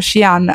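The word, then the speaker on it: Xi'an: portato da shian perché abbiamo scoperto che si pronuncia shian a CH ching che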